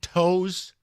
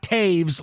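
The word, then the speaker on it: Toews: who owned it was I think it's spelled t o e WS not Taves like like the Blackhawk but the owner the team and I mean it's not impossible yeah it's Leonard toes cuz you really don't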